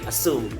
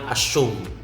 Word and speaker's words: assume: So just say assume, not assume.